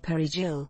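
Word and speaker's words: perejil: A Dominican would be able to properly pronounce the word perigil, while a Haitian would have a Creole accent on the word that would clearly point to them being Haitian.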